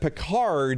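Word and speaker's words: Picard: Peard is usually how it's said, but you put the letters in the right order.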